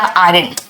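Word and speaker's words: iron: Press या आयरन। बेटा लिखते हैं आयरन। आर यहां पे साइलेंट होता है।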